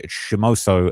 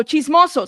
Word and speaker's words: chismoso: on TikTok is a chimoso as well, right? These people just want attention and views. He's like chimoso. No, chismoso. Say it right. Chismoso.